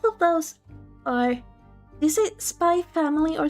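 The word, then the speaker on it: Spy × Family: it Spy Family or Spy X Family? I I honestly don't know. Oh, both of those are like really well-known ones, right? I haven't watched either. The X is silent. The Spy Family.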